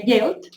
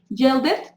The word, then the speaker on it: yelled: Entonces tenemos yell, sería yelled, y clean, cleaned. Try to remember, yelled and cleaned. So we don't pronounce the E. Yelled it? No, yelled.